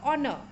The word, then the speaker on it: honor: elephant and or a honor now you're also in honor H is silent it is not honor